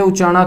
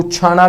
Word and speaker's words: उचाना: उचाना में है बच्चों यह उचाना करनाल वाला है ध्यान रखना ठीक है इसको uchhana भी बोल देते हैं वैसे है ये उच्चारण ये चलेगा नेक्स्ट यहां एक स्टेडियम भी